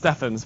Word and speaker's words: Stevens: My name is Stevens. I know it's pronounced Steffens, but you know what?